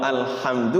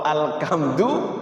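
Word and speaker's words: الحمد: luar biasa ya itu Jadi kalau makhraj itu ee kayak ee alhamdu dibacanya alhamdu itu rubah makn itu alhamdu itu maknanya kehancuran lillahi milik Allah masa Allah hancur ya kan kalau alhamdu kan segala puji lillahi milik Allah kalau alkamdu lebih-lebih alkamdu ada alqam ya rubah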